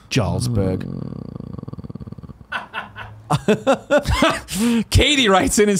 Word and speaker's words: Jarlsberg: Capitalist Pig says re-cheese, it's pronounced Jarlsberg. Think Skyrim. No, that's right. Yes, Jarlsberg. Now that I hear it said that way, that's quite correct. Jarlsberg.